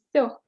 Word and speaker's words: все: You have sound V, sound S, and sound E. V. Yes. The next is S. P. S. V, S. Letter S. VP. So, vs. Все.